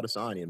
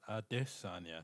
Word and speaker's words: Adesanya: Shouts out to Israel Adesanya, man. Like it's a pretty big deal. I was just gonna say, shouts out to Israel Adesanya, not Adesanya, but Adesanya.